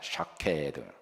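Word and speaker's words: שקד: 샤케드. 이렇게 발음을 끝까지 하셔야 돼요. 사케까지 하시면 일본 술이 됩니다. 그래, 샤케드입니다. 발음상 샤를 강조하기도 하는데요.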